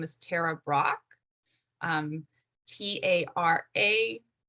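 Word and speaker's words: Tara Brach: of my favorite meditation teachers her name is tara brock um t-a-r-a b r a c h and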